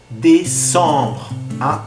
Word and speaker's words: décembre: Décembre. Como ven la tilde, décembre. Décembre.